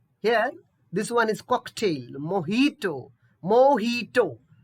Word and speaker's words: mojito: this one is cocktail mojito mojito not to j we should we should not pronounce j it will be mojito yeah this is most